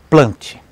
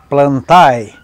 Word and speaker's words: Plantae: a transição para o reino plante ou como muitos dizem plantai mas pronuncia plante também que pode ser chamado